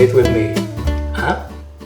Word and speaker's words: hein: Hein? Hein? Some of French pronounce it more like with a high tone, but in a discreet way. Sometimes it's barely audible.